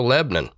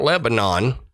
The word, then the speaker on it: Lebanon: in Tennessee There's also Lebon oh yeah it's not Lebanon even though that's how it's spelled it's Lebon so yeah all right